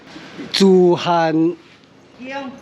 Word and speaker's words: 慈諴宮: Oh, these fonts is very special Cixian Temple The Pronunciation in Taiwanese Tsû-ham kiong tsû-ham tsû-ham-kiong Thank you.